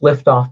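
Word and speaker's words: Lyftogt: a gentleman named john liftoff yes it's it's pronounced liftoff but it's l y f i believe it's a dutch name but john is actually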